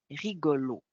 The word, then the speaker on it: rigolo: Puis si on écoute bien, on s'aperçoit que le premier O est un O fâché, hein, un O ouvert, alors que le deuxième O est vraiment prononcé O. Rigolo.